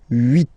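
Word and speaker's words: huit: Then here final t is pronounced.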